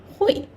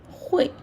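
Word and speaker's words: 会: Hui. You can say Hui. Kind of similar pronunciation as my name, right?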